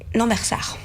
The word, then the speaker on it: Lambersart: Il est à Lambersart. Donc 128 avenue de l'Hippodrome. Lambersart, me dit-on en régie parce que je le prononce mal.